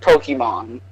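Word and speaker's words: Pokimane: No, but even she has said that it's pronounced Pokemon.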